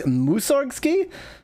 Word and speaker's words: Mussorgsky: The stress is on the first syllable. It's Mussorgsky.